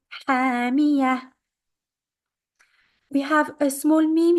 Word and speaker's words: حَامِيَةٌ: And ta marbuta, we are stopping on that, is the end of the verse. We change the ta marbuta into a ha. حَامِيَةٌ.